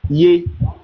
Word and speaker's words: Yeshua: La version hébraïque moderne le prononcerait beaucoup plus comme Yeshua.